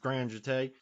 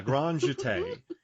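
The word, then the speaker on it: grand jeté: say this word because i was going to say grand grand ju tay uh gran jate and she just does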